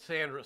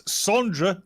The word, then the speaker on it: Sondra: of our language it's sondra that's how it's spelled that's how it's pronounced no it's it's you